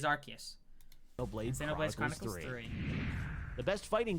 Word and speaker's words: Arceus: Legends Arceus triangle strategy he actually pronounced Pokemon Arceus correctly thank goodness if so many people say Arceus and it's like officially actually is Arceus no blades the best